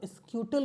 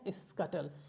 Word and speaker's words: scuttle: देखिए अगर आप इसको पहली बार देख रहे हो तो बहुत स्क्यूटल भी पढ़ सकते हैं, लेकिन राइट इसका प्रोनाउंसिएशन है स्कटल, यानी तेजी से दौड़ना, लेकिन छोटे छोटे कदमों में।